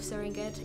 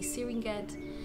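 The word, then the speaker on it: Serengeti: many places around gorongo speaking of serenget is supposed to be syringet kilimanjaro to killing machiaro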